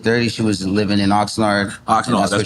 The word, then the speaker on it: Oxnard: How you pronounce it? Oxnard.